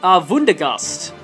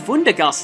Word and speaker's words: Wundergust: And yes, Maruj gains one Wundergust. It is actually pronounced with a V because I've read its katakana.